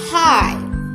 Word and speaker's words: high: High. High. GH silent.